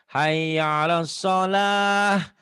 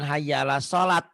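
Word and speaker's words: حي على الصلاة: Kayak hayya 'alas shalah. Nah, itu kan ujungnya tak marbutoh. Iya. Bukan hayya 'alas sholat. Jangan hayya 'alas sholah. Tapi kalau dibaca apa adanya hayya 'alas sholati, ti-nya dibaca.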